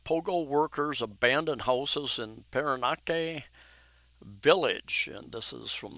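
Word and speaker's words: Parañaque: of a village in Paranaque, if I pronounce that correctly. Paranaque, the way you say that N.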